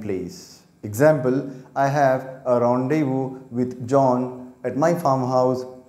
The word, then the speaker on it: rendezvous: v o u s its pronunciation is rendezvous or rendezvous these are its phonetic symbols this is ipa international phonetic alphabet the sounds of these symbols this is uk pronunciation the next one is this is u.s pronunciation this is a stress mark it is the main stress so this syllable should be said loudly and clearly rendezvous rendezvous i'll tell